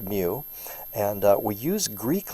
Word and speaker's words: mu: the lowercase m in the Greek alphabet it's pronounced mu and uh we use Greek letters when we're